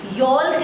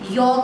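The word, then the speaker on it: yolk: आप इसको properly pronounce करना, योल्क नहीं है, ये योक है।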